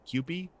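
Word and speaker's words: CUPE: Um, uh, representing the workers is, uh, Canadian Union of Public Employees, uh, pronounced QP, CU P.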